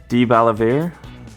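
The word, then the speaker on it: DeBaliviere: Debalavere. Debalaveri. DeBolivar. Debalavere. DeBolivar. That's the American pronunciation right there.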